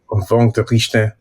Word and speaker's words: Vongerichten: You pronounce his last name. Vongerichten.